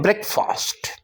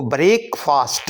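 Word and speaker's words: breakfast: ब्रेक, इसको ब्रेक फास्ट नहीं बोलेंगे, ब्रेकफास्ट। और फास्ट को ज़्यादा लंबा भी नहीं करना, यानी अभी सीखने के एतबार से तो ठीक है ब्रेकफास्ट, लेकिन आप जब बोलेंगे तो फास्ट में आवाज़ आएगी फास्ट की, ब्रेकफास्ट ब्रेकफास्ट ब्रेकफास्ट।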